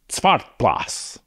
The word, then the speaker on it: Zwartbles: I think I'm doing pretty decent job pronouncing that as a Dutchman. Zwartbles. I think that's a proper pronunciation.